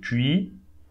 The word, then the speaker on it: Tuileries: Okay, don't pronounce the ES here, so tu, and I here, so I in French is E, so tuileries, tuileries, tuileries.